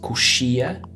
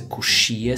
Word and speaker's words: coxia: If your seat is by the window, which is a janela, or maybe your seat is in the aisle, which is coxia. That's a coxia seat.